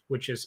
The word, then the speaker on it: Ai: or I sorry it's it's it looks like in AI That's how you that's how you spell it AI but I believe it's pronounced I Jericho Nineveh and Babylon